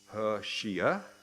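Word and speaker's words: 和谐: So instead of talking about harmony, which is pronounced her shia, they started talking about her shia.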